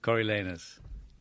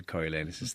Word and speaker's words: Coriolanus: Now, pronunciation, famously at the National Theatre, Ian McKellen, directed by Peter Hall, they said Coriolanus, didn't they? So in Josie Rourke's production, how are you going to say it? Coriolanus.